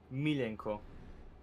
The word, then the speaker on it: Milenko: So, basically, for us in Croatia, an L and a J together is one letter. We pronounce it L. So it's basically Milenko.